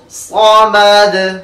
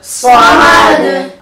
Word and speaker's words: الصمد: সাদ সাদ সাদ সাদ সামাদ সামাদ আল্লাহু সামাদ আল্লাহু সামাদ যেভাবে আমরা আহাদ এখানে কলকলা করছি সামাদ একই ভাবে কিন্তু কলকলা হবে।